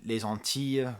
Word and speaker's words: les Antilles: He does a lot of these jokes about the word auntie and auntie and going to les Antilles, which is, the Antilles, the French way of pronouncing that.